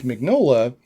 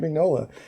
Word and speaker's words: Mignola: that was that's Mike Mignola. I guess it's Mignola. Is it Mignola? I always said Mignola. I pronounce it Mignola. Mignola. So, Mr. Mignola. Yeah. Okay. Like a filet mignola.